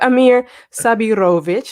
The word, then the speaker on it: Amir Sabirović: And then we have Amir Sabirović. I'm hoping that I'm pronouncing it right.